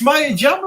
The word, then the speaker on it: Maya Jama: Maya, is it? It is. It's Maya Jama.